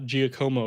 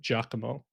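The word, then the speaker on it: Giacomo: Instead of the name is not Gcomo apparently, it's Jakamo.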